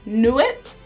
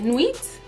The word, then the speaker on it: Nuit: the n-u-i-t before that and then knew it i think that's how you say it nuits that was the best